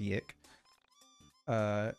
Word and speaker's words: YIIK: No, it's actually pronounced YIIK.